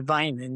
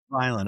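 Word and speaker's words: Vineland: Navy so you you came back to it's pronounced Vinland right vin Midland, New Jersey. I came back to Vinand. Yes. Vinand.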